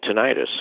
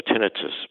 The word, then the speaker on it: tinnitus: to also get 9 tinnitus or tinnitus both are by the way are correct to a correct way to say it and yeah you might